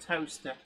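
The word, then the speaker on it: Towcester: it was as well but actually yeah to toaster does exist it's near bratel on the A4 or just off the a43 A5 and it's spelled tester if you're wondering but it's pronounced toaster um Alan Downing says scalpers bought them all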